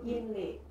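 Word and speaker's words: Yinli: Nah, sebenarnya kalau pengucapan secara Mandarin itu Inli.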